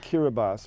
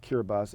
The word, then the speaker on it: Kiribati: point out what this is we call it Kiera bas but it's spelled ki r ib 80 i ya care about Kiribati it looks like you're about it but it's pronounced kir bus it's an island nation in the Central Pacific